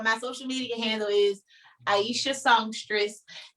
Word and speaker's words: Aishah: Yes, so my social media handle is Aishah Songstress. My name isn't spelled how it's said, so it's AISHAH and then Songstress.